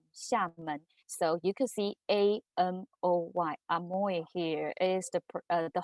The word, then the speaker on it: Amoy: brand from um shaman so you could see a m o y amoy here is the the hawking um pronunciation of salmon so uh the the food